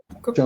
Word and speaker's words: Jean Cocteau: Señala Jean Cocteau, ¿se pronuncia, Ana María? Jean Cocteau.